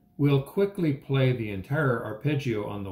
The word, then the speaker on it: arpeggio: measure 1 with an arpeggio. An arpeggio is a series of notes played in order either up or down the keyboard. Imagine strumming strings on a harp, which rhymes with arp.